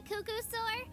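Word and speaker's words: Qucusaur: of energy can you repeat how do you pronounce it again oh that's a cucko sore Cucka fast and they're always full of energy I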